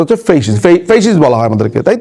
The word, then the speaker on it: ফ্যাসিস্ট: সঠিক উচ্চারণটা হচ্ছে ফেসিস্ট।